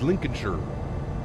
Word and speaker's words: Lincolnshire: Pronounced Lincolnshire.